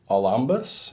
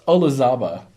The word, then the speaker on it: Olazaba: This is Lemire, Ramos, Olambus, and Delgado. I totally butchered that. It's Olazaba.